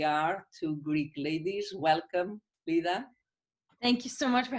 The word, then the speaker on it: Leda: so here we are two greek ladies welcome lita thank you so much for having me so nice to hear my name pronounced properly as well well i was like